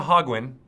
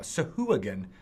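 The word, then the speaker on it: sahuagin: how to pronounce things the one that always gets me sowho again that's right not to hog one which I used to call them but now so hooligan is how to really pronounce those fish folk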